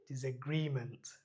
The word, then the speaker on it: disagreement: ডি ইজ a Gree, জি এর উপরে stress দিতে হবে গ্রি। এখানে এই যে একটা কোলনের মতো বাট ত্রিভুজ চিহ্ন দেওয়া আছে, এটার জন্য উচ্চারণটা হবে টান হবে এটাতে, রি। সবাই একসাথে বলি রি, তো উচ্চারণটা হবে ডিসএগ্রিমেন্ট, ডিসএগ্রি। এখানে এখানে হচ্ছে গিয়ে উচ্চস্বর দেওয়া যাবে না, এখানে জি এর উপরে উচ্চস্বরটা পড়বে, ডিসএগ্রিমেন্ট, ডিসএগ্রিমেন্ট।